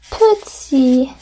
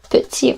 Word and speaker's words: petit: People tend to not pronounce it petit, right? They pronounce it un petit peu. So do you forget the kind of E here? You kind of say petit.